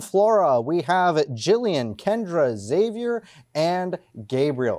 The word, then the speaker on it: Xavier: From Flora, we have Jillian, Kendra, Xavier, and Gabriel. Or it's Xavier, right? Pronounce the X. You pronounce the X. It's very important.